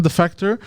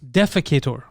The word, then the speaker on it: defector: Defecator. It's not defecator. Yeah, North Korean defecator. Yeah. Defector when you defect. Defecator when you defecate.